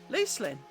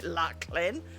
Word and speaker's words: Luclin: by, like I say, Lucelyn starts off like Lucy, so loose. I didn't realise you meant to call it Luclin.